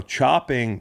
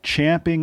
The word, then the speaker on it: champing: you know hold on want to argue that it's now become a part of the lexicon because all you idiots have said it wrong for so long I'm not buying it it's champing at the bit champ at the bit an equestrian frickin term how much you want to